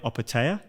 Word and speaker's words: Opetaia: this uh cruiserweight champion of the world Jai operatea yes did I say that right yep yep